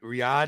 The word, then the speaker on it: Riyadh: Riyadh, is that how you Yeah, pronounce it? Riyadh.